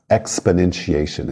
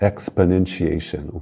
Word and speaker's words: exponentiation: que acabamos de usar exponentiation exponenciação o po Você quase nem pronuncia a vogal exponentiation o quase desaparece exponentiation notation cuidado com